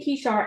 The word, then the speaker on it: Kishar: So, Kishar, why the name Kishar?